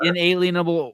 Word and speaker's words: inalienable: It can be inalienable or unalienable.